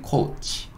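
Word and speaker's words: coach: 근데 ch가 마지막에 올 때는 의소리 달아서 츠라고 하지 않고 치 혹은 뭐 취 요렇게 좀 소리를 내요. 그래서 여기는 코치 코치 코치 이렇게 발음할 겁니다.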